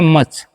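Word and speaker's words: much: एम यू सी एच इसे मूछ पढ़ेंगे। नहीं एम का म यू का उच्चारण करना है। अ सी एच है तो च करेंगे तो हो गया मच।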